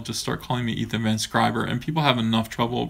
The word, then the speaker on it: Van Sciver: start calling me Ethan Van Sciver and people have enough trouble pronouncing my last name here's the thing it's Van Sciver that's my last name it's two words it's not just skiver it's Van Sciver so